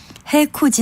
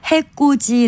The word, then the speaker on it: 해코지: 저음 답은 해코지 입니다 해코지 는 남을 헤치고 자 하는 짓을 말하는데요 이것을 해꼬지 라고 된소리로 발음하는 경우가 많아서 해꼬지 로 잘못 알고 사용하기 쉬운 편입니다 나머지를 살펴보면 배를